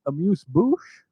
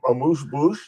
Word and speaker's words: amuse-bouche: It's a vacation amuse-bouche. Say what? Say what? I have no idea. English. Vacation amuse-bouche?